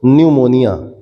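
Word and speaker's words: pneumonia: कर लीजिए न्यूमोनिया पी से स्टार्ट होता है ये पढ़ते हैं इसको न्यूमोनिया ठीक है ी साइलेंट होता है न्यूमोनिया टेटनस ट्यूबरकुलोसिस जिसको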